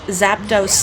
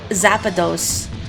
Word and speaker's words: Zapdos: that you remember kids in school pronouncing Zapdos like zapados which sounds like Zapatos should shoes in Spanish it's a shoe bill